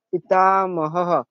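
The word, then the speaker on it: पितामहः: কাজ চিহ্ন ছাড়া হলে তাহলে এটার বিসর্গ উচ্চারণটা হ উচ্চারণ করব তাহলে এখানে হবে কি পিতামাহ গুরুবিদ পিতামাহ হ্যা দিদি বুঝেছি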